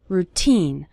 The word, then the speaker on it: routine: part of your daily routine the syllable teen is stressed in the word routine you'll start seeing your